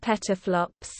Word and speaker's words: PFLOPS: 10-12 flops, pronounced teraflops, or peta, combined into the shorthand PFLOPS. 10-15 flops, pronounced petaflops, petascale.